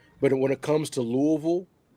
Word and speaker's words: Louisville: I just say 2 syllables, Louisville.